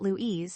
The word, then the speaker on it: Luis: "Hm, the only Lou I remember is Luis Escera," Rodney says. "Yes," I say, scribbling the name down. He pronounced it Louise, so that means it's spelled L UI S memo to self.